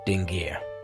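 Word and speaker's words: dingir: and then again as it's pronounced this time phonetical value dingar meaning God but this is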